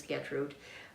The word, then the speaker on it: Gertrude: what's on it but the reason I'm saying my name is is my parents were from Germany and they always referred to me as get rude but my siblings called